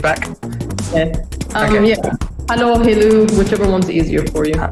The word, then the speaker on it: Helou: Everyone pronounces it differently. It's Helou, but if it's easier for you to say Helou, just go for that.